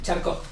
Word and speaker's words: Charcot: Jean-Martin Charcot. Estos no sé, estos sí los puedo pronunciar entonces. Más porque suena como charco.